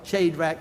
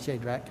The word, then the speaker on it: Shadrach: had to bout well shade rack Meshach and Abednego and really it should be pronounced I understand Shadrach but nevertheless they wouldn't